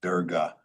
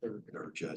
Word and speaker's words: Durga: It's pronounced Durga. The god is pronounced Durga, not Durga, so just.